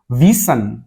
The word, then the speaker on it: wissen: Yeah, that is wissen.